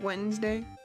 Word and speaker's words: Wednesday: Like the first D and E are pointless. I guess if you wanted to say it like Wednesday. Instead just saying Wednesday. Could just spell it like W-E-N-S.